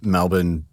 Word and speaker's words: Melbourne: and you were in Melbourne for a bit before that. Also, yes. I'm doing my best to not pronounce Melbin offensively to Like Australians.